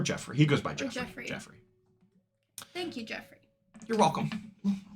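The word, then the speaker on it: Geoffrey: Jo yep it's Jeff it's not it's it's it's spelled g e o FF r e y would that not be Joffrey no jofrey is j f like Joffrey from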